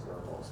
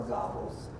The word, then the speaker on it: Goebbels: the British in the war room Nazi Joseph Goebbels and that is by the way you know German that's pronounced verbals not vocals or gobbles ome just insult me it is was Hitler's